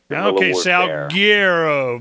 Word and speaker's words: Salguero: for me so everybody knows how it's properly pronounced sgo as in like Guerilla salero very cool now uh let's go ahead and